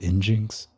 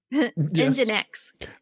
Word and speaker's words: nginx: Nginx? Nginx. I'd always heard it said as Nginx.